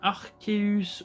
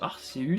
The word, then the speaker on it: Arceus: Légende Pokémon Arceus ou Arceus, selon comment on le prononce.